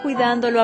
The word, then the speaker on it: cuidándolo: Did you notice how we had to put an accent on the A in cuidando when we attached the lo? Sometimes when you're attaching stuff to the end of verbs, you have to add an accent to maintain the integrity of the verb's pronunciation. If we didn't use the accent, cuidandolo would be pronounced cuidandolo, which sounds wrong.